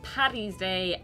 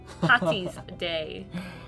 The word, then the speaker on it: Paddy's Day: It's pronounced Paddy's Day, not Patty's Day.